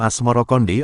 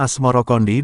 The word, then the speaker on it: Asmoroqondi: Sebutan itu mengikuti pengucapan lidah Jawa dalam melafalkan As-Samarkandi, yang kemudian berubah menjadi Asmorokondi.